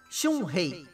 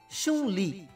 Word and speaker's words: Chun-Li: Então ele pesquisou e adaptou mais uma vez, para assim finalmente nascer o nome que conhecemos, Chun-Hei. Segundo a pronúncia japonesa, né? Que em mandarim se fala e escreve Chun-Li.